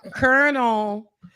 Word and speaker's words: colonel: Colonel.